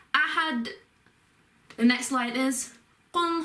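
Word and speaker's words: أَحَد: And at the end with the d or the del sound, you have got, because when you read Quran, you've got to try and make it flow, so you put a bit more emphasis on it. So it's ahad, and you sort of, the D sort of continues a bit longer, so ahad.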